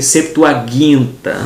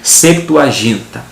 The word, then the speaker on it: Septuaginta: A palavra Septuaginta, né, que até a pronúncia pode ser Septuaginta, mas na nossa língua portuguesa vamos colocar Septuaginta, tá?